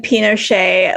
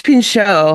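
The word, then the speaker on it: Pinchot: I think it's Pincho. Whatever. You just added an extra syllable.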